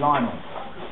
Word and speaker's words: Lionel: Fan Frank close saying lonel Messi was named after Li Richie so why does no one pronounce his name Lionel good point yeah I